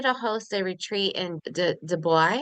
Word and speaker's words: Dubai: I want you to host a retreat in Dubai. Am I saying it right? Dubai. Yeah, Dubai. Dubai.